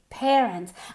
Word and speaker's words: parents: Y la A se pronuncia como una E, parents.